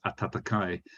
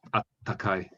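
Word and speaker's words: 暖かい: And because of the young kids of today in Japan are too stupid to be able to pronounce atatakai, nowadays lots of people say atakai, and they just atakai, double hit the T, atakai.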